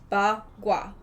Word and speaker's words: Bagua: But it's spelled I think that's the way they pronounced it on the... B-A space G-U-A. Bagua.